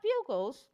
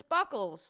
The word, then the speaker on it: Bugles: You pronounce that bugles? But there's two G's, so it's buggles.